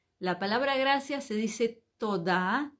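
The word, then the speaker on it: תודה: se dice Gracias en hebreo a ver de toda la gente que está aquí conectada alguno se acuerda dice eh torón dice se dice tod rabá Gracias O sea la palabra Gracias se dice tod t o d a tod y muchas gracias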